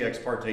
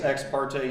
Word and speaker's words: ex parte: of them one is how you pronounce ex parte young i think it's ex parte young how many of you think it's ex parte ex parte a surprising number of supreme court justices say ex-party i think it was